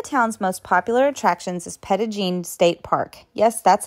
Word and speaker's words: Petit Jean: One of the town's most popular attractions is Petigene State Park. Yes, that's how the locals pronounce it.